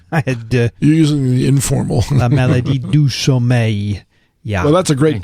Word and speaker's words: la maladie du sommeil: La maladie du sommeil.